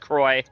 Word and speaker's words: Croix: I still don't think that it should be pronounced Croix. I think it should be pronounced Croy. Like the drink.